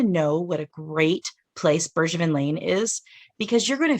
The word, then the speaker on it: Bergevin: bergevin lane vineyards and that's bergevin as in soft g not hard i've actually had to